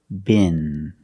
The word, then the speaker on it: bin: So the first word, bin. Bin. And the next word is bean, with a long E sound. First, let's practice with bin. Bin. Use the short I sound like this is. It's more open.